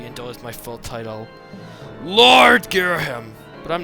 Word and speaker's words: Ghirahim: you call the surface you may call me gim it's pronounced in truth I very much prefer to be uled my full title Lord gear him but I'm not fussy